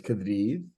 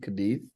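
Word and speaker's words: Cádiz: It's Cadiz with a we do not pronounce the Z, Cadiz.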